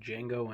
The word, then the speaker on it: Django: today I'm talking about Django Unchained the D is silent this